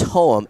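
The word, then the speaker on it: Hohem: and do they have a website it's it's home h o h e m did I pronounce the company's name correct yes so can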